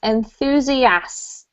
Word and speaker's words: enthusiast: So that noise at the end of a word can be quite tricky. You have to have an ST.